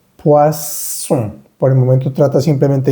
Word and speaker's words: poisson: No es on, sino es un solo sonido. Poisson. Por el momento trata simplemente de imitarlo. Poisson.